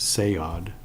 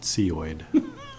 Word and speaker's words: CEIOD: While we're waiting, one thing I'd like to remind everybody is that the CEIOD is pronounced SEOD, not CEOID.